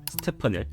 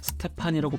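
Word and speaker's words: Stephen: 먼저 프레젠테이션을 담당한 나이키 관계자가 스테펀을 스테판이라고 발음하는 실수를 저질렀는데 미팅에 참석한 그 어떤 직원도 이 실수를 정정하지 않았다고 합니다.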